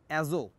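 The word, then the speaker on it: azote: তো NH3 এটার নাম উনি দিয়েছিলেন যেটা, সেটা হচ্ছে অ্যাজো, টিটা সাইলেন্ট, টি এর উচ্চারণ হবে না। জাস্ট লাইক তোমরা সুনামি নামের ক্ষেত্রে শুরুতে যেমন একটা টি বলছি আমরা, সুনামি উচ্চারণে টি উচ্চারিত হবে না, তারপর নিউমোনিয়া উচ্চারণে পি উচ্চারণ হয় না, এক্ষেত্রে শেষের যে টিটা আছে এটা উচ্চারণ হবে না, সুতরাং উচ্চারণটা হচ্ছে অ্যাজো।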